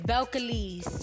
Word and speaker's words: Belcalis: My real name is Belcalis. Belcalis? I can pronounce Belcalis.